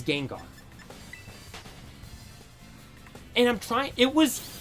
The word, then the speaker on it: Gengar: there because I'm like how could anyone pronounce Gengar like that I it might have been gen jar he said I'm like